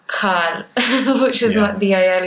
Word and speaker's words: Khar: first moved to Bombay to say Khar the right way. Because in the south, you don't have the syllables which, have an H. There's no hard B, there's no hard H.